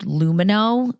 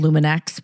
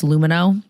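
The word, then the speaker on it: Lumineux: So, a while ago, Emily and I used Lumino. It looks like it's spelled Luminex, but it's Lumino.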